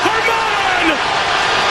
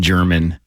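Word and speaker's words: Germán: game in baseball history I was I was so hoping you were going to call him German but you knew how to say his name that disappoints me greatly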